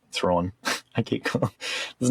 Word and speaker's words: Thrawn: Thrawn.